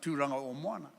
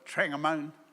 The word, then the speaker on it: Tūranga o Moana: I can forgive you if you can't pronounce Tūranga o Moana. But please don't call it what they call it, Trangamone. How Tūranga Moana became Trangamone, I have no idea, but it did.